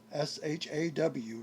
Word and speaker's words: Shaw: Uh Shaw, s h a w. It's not got an n on the end. It's Shaw. Um and then you have a name that I cannot pronounce.